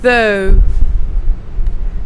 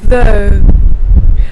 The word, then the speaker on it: though: really carefully what about though how is this pronounced it means but but it's usually at the end of the sentence though though this time the thies is even lighter through